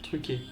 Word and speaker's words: trucker: Alors, trucker, mais prononcé truqué.